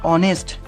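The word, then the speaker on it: honest: দেখো এখানে দেখো অনেস্ট এরকম কিছু শব্দ আমি লিখেছি অবশ্যই এগুলো মুখস্ত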